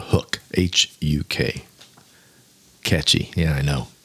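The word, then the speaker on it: Huk: Again, it's spelled Hook, H-U-K.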